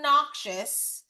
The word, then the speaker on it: noxious: So the word noxous it sounds like the word obnoxious.